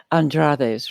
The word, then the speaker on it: Andrade: So the first home that you went to was with the Andrades, right? And and they were cruel. Andrred is how the name is pronounced.